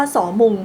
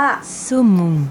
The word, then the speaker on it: saumon: ออก เสียง ภาษา ฝรั่งเศส ได้ เลย เรียก ว่า สง แต่ ฝรั่งเศส เนี่ย เขา จะ ออก เสียง ว่า ซุม นั่น แหละ ค่ะ ออก เสียง แบบ นี้